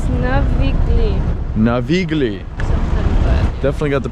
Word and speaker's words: Navigli: It's Navigli. Navigli. Definitely got the pronunciation on that one all wrong, but whoa, look at this.